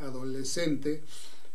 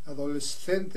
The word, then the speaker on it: adolescente: no tendrían problema porque para ellos es adolescente adolescente es decir pronuncian la s y la c como separadas pero en español de México decimos adolescente que se refiere a